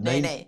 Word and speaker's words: Nene: series, a yacht called Nene, or how do you pronounce that? Nene. Nene, it's the Hawaiian bird.